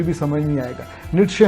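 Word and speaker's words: Nietzsche: نیٹشے ہم بولتے ہیں نیچا، اس کا صحیح تلفظ ہے، میں نے جو اہل زبان سے سنا.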